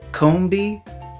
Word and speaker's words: Combee: This is a bee shaped like a honeycomb. You know, like the cereal? So, if it's a honeycomb and a bee, wouldn't it make sense that it be called Combee?